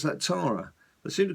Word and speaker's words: Tara: and then of course tra so Tara or terara as I seem to call the uh in in England you pronounce that Tara they seem to call a terara in um